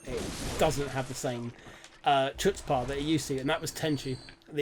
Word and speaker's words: chutzpah: doesn't have the same chutzpah that it used to, and that was Tenchu, the original Tenchu on PlayStation 1. You know that word's pronounced Hutzpah. Is it? The C is silent.